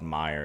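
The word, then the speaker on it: Meijer: it should be e there is a grocery store chain in the midwest called Meyer it's me j e r as well J eer yeah it's like German Myer okay yeah it's great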